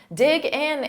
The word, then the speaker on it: dig in: Dig in is a phrasal verb, so native speakers will link those sounds together. We'll take that G sound and we'll transfer it to the next word. Dig in, gin. So you hear that G in front of in, but you have to say them as one word.